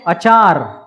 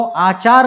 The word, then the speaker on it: अचार: यहाँ वो है अचार, जो कैरी का है, नींबू का, वो आचार नहीं, अचार है, अचार। ठीक है, ये है आचार और वो है अचार। ठीक है, फर्क समझे, शब्दों में, उच्चारण में फर्क समझे।